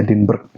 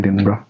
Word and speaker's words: Edinburgh: Gue tuh selalu bacanya Edinburgh, tapi orang nyebutnya Edinburgh.